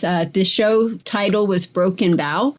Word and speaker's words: Broken Bow: the show title was broken bow it's not bow like in bow of the ship it's more like a bow like a bow and arrow so it's broken bow and i just wanted